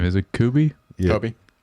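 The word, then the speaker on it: Koby: Kobe. Kobe. Kobe. I It sounds like they say Kooby in the show, too.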